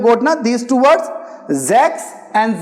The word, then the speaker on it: sechs: Okay, and similarly, this S, like you have got now these two words, Sechs and Sieben. If initial letters, initial alphabet, we are having S, we will pronounce it as Z.